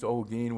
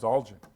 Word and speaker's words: Olguin: and it was changed olgin which is the spanish version and since my father